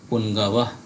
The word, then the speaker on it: পুঙ্গব: উচ্চারণ হয় সেটা দেখব ও যদি যুক্ত আকারে প্রথমে থাকে তাহলে অর্ধেক ন এর মত উচ্চারণ হয়ে থাকে সেইটাই আমরা মূলত এখানে